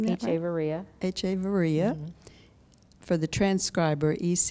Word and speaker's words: Echeverria: this is an interview with echeveria by pronouncing the Avery ax echevarría for the transcriber ec h ve r RI